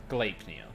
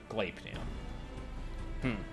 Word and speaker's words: Gleipnir: We are looking at how to pronounce Gleipnir. Gleipnir. Yeah, Gleipnir.